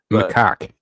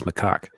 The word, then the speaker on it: macaque: macaque is how that's pronounced. And I know what it sounds like, but it's macaque.